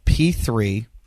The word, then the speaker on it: P3-OM: It's a probiotic called P3-OM. That's P3 Om. Okay? P3-OM. Got it? It's spelled P3-OM, but it's Om.